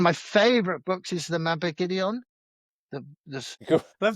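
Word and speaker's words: Mabinogion: Uh, one of my favorite books is the mapideon.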